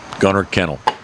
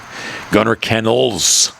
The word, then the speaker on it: Gunner Kennels: Gunner Kennel. Did I say it correctly? No. Gunner Kennels. I didn't put the N on the end.